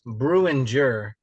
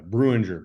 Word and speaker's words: Breuninger: Breuninger is the correct enunciation. Yeah, Breuninger. But so nobody, the N is silent.